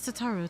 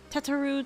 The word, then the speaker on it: Tataru: you my name is Alano and this is tataru tataru tataru tataru or Tatar wait tataru taru yeah that's that's how you say her